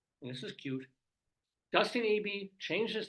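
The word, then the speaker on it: Ebey: It's not eBay, it's E-B-E-Y. Dustin Abey, maybe.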